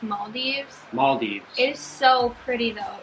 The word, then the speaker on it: Maldives: been saying it wrong I think we've been saying Maldives and I think it's Maldives males it so pretty